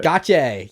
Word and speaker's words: Gotye: the Year Grammy Award winner with, is it pronounced Gotye? Gotye? Gotye. Yeah. Gotye.